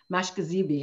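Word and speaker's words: Mashkiziibi: our bad river nation mashkazeebi is how we pronounce it it means medicine river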